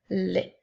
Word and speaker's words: les: s'écrit l e s le son e s lorsqu'il est placé à la fin d'un petit mot de trois lettres se prononce est donc elle qui fait es qui fait les nous avons les comme